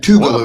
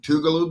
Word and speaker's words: Tougaloo: Have you Have y'all ever played Tougaloo before? Am I even saying it correctly? You're saying it right. Um, not in my time have we played Tugaloo up until this past year.